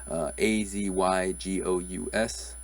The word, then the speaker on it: azygous: on the screen there's some unfamiliar words there a Z ygo us so how would you pronounce this is it as IGAs azygous ziggies